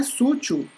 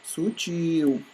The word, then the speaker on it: sutil: O correto não é sútil, e sim sutil.